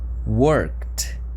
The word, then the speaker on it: worked: acontece com por exemplo o verb to work work termina com o som C ele é um verbo regular então eu escrevo e e ele se transforma em worked worked joia Vamos para mais exemplos